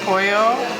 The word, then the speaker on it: pollo: is fluent in spanish polo alfa store which is adobe we're pronouncing the l's and that's pollo yeah sorry adoho marinated